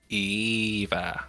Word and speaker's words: Aoife: Her sister is, her name is Aoife, which is spelled in a super fun way. Eva.